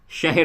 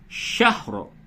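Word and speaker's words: شهر: لیلۃ القدر خیر من الف شہر. بہت سے لوگ اسے شہر بول دیتے ہیں، تو اس کو احتیاط سے ادا کریں. شہر، ہجے یوں ہوگا، لام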